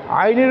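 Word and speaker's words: ع: এই বর্ণটা কি আইন আইনের উপরে এই চিহ্নটার নাম কি পেশ আইন পেশ উইন পেশ উন আমরা জানি আইন এটি হলককে চাপ দিয়ে উচ্চারণ করতে হয় হলককে চাপ দিয়ে উচ্চারণ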